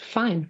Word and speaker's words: Fine: you too soon but my last name is actually pronounced fine fine fine you